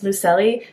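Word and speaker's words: Luceli: friends sid and luce lucelli lucelli i was pronouncing her name wrong in my tbr video so it's lucelli and sid and then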